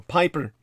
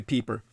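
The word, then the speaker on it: Peiper: Security Service battle group peeper or Piper it's actually peeper but it's spelled p i p r on December 17th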